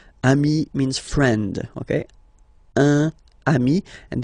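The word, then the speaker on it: amis: it's the singular remember if you want to put the plural form then you just add this final s here okay but then technically you pronounce it the same way so singular form Ami plural form you add this s but it's Ami as well okay in that case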